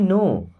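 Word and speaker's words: know: से करो okay I नो आई मीस होता है मैं अब इस नो में एन के पहले दोस्तों कभी भी के आता है ना तो के साइलेंट रहता उसको नहीं पढ़ते हैं है ना तो आई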